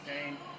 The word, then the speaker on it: Duquesne: of people look looks like it some people mispronounce itni but it's Duane um this beer has been around actually a